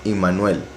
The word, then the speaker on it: Immanuel: La pronunciación correcta, la verdad, todo indica, es Immanuel, porque Im significa con, Nu es nosotros, Él es poderoso. Entonces, con nosotros el poderoso, Immanuel.